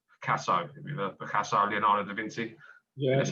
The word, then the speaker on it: Leonardo da Vinci: Like, at the moment, more recently, I'm thinking about other artists that actually lived in the past, like Picasso, Leonardo da Vinci.